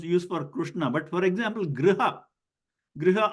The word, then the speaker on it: Krishna: And so whenever you see the R written like this, or just the R sound, or like a Brihaspati, okay, and Krishna, these have to be pronounced without modifying the shape of the lips into a E kind of orientation or U kind of orientation.